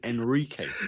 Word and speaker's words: Enrique: I think Scott said my name wrong. It's actually Enrique.